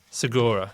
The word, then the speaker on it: Segura: Segura. Segura. Right? Yeah. Um, Like Tom Segura, the comedian.